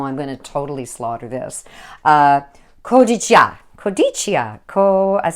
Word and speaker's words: Cotija: Mexican street corn calls for a Mexican cheese pronounced. Oh, I'm gonna totally slaughter this. Cotija. It sounds like I'm Japanese. Oh my gosh. Cotijia.